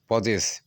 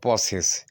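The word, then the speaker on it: possess: এস E double S পজেস। এই পজেস বা পসেস এখানে এসটা বর্গীয় জোড়ার কাজ করে আর দন্তস্বর কাজ করে। তা একটা উচ্চারণ মূলত দুইভাবে হতে পারে।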